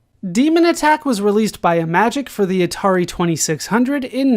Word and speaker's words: Imagic: this company name, but from what I've been able to find, it has been pronounced Imagic, so we have to assume that it's halfway between like Imagine and Magic.